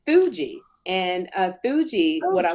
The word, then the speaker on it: Theugi: and it's really growing it's pronounced Fuji t-h-e-u-g-i they're amazing Chris why